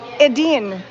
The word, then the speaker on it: Edin: How do you spell that? E-D-I-N. E-D-I-N. Edine.